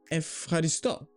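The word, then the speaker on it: ευχαριστώ: And this is the same for epsilon and epsilon. Ev, F. Like euro, euro. And Efcharisto.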